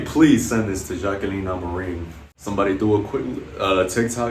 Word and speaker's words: Amorim: Amorim, like the Man United manager, against Mizuki in a way.